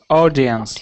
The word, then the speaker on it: audience: you pronounce this word audience a yes that's right audience when we have um au words there's two possibilities there's R like clock and there's or like horse so we've got audience